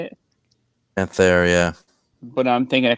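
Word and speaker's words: Panthère: Panther, yeah.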